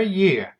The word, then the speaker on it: Е: The letter ye has a sound similar to English sound in the words yet, Peter, or exit.